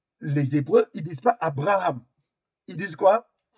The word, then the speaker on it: Abraham: Mais ils disent pas Abraham comme nous, hein. Il le B, il le prononce ve Alors, comment on peut